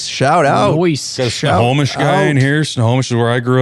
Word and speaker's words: Snohomish: Snohomish.